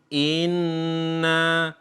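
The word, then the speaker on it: إنّ: Inna akun nawapol rindu membacanya harus seperti itu tidak boleh kita membaca biasa Inna Hai Inna kuna torin itu enggak ada dengungnya kalau dengung itu ah kira-kira satu huruf atau dua harokat Inna gonna wolyn wa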